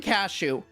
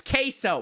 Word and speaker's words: Queso: Bro, I mispronounce his name so much. Once I called him Cashew, once I called him Cassio. Is it Queso? No, I think it's, yes, Queso.